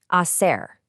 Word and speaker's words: hacer: Before we say it, the letter H in Spanish is always completely silent. Just pretend it isn't even there. To do or to make, hacer.